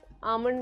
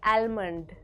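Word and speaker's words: almond: बहुत पसंद है यस आमंड milk coffee is very healthy आमंड नॉट आलमंड एल is silent example I love eating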